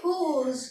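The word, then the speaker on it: rose: ई ये तो फ्रेंच में लिखेंगे और इसकी प्रोनाउंस होती है आर एच ड ओ जड ई तो इसको पढ़ेंगे हम इसको पढ़ेंगे हुज क्या पढ़ेंगे हुज तो रोज को हम बोलेंगे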